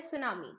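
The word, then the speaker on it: tsunami: है pronunciation for example आप बोलते हैं सुनामी तो सुनामी अगर हम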